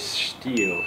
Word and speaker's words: Stihl: but the reason that you would buy a steel is one they have a rich history steel gets its name from its founder andreas steele is actually how you how the germans pronounce it he's a german man he is